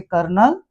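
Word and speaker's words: colonel: उसी प्रकार से ओ, ओ यदि एल के आगे पीछे बैठे हों तो ये साइलेंट हो जाते हैं, जैसे कर्नल, ये एक स्पेलिंग स्पेशल है, और ये कलर, तो यहां पर अ की साउंड बनेगी, ओ नहीं बनेगी।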